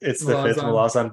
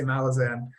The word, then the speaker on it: Malazan: Or we could pronounce the A's as like English A's. Malazane.